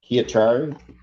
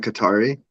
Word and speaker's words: Katari: People versus Chiachari. I probably pronounced that all wrong. Good morning, Your Honor. Oscar Rodriguez for, I believe it's Katari.